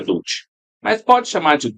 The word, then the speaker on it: Dulci: Inclusive, só confirmando, a pronúncia do seu sobrenome é Dutti? Isso, essa é Dulce.